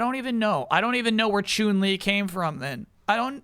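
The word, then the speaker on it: Chun-Li: My chat wouldn't say Kyle, it's Chun Lee. They wouldn't do it. They My chat wouldn't. How do you say Ken? I'm hurt. I'm hurt. It's never been chunling.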